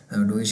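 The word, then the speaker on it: Deutsch: डोइच कहते हैं German को ही, तो ये वही है। तो ई और यू जब आते हैं तो हम इस तरह उसकी प्रोनाउंसिएशन निकालते हैं, नोए, डोइच, ऐसे करके।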